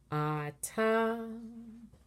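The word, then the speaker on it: אתה: And our word Ata, it has also the last syllable as the accented syllable. So this one should be relatively easy. Ata.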